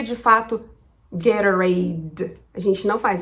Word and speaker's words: Gatorade: Essa bebida você vai provavelmente escutar como Gatorade. Gatorade. O que precisamos fazer para pronunciar essa marca como um norte-americano pronunciaria? Bom, primeira coisa é saber que a tônica tá em gay.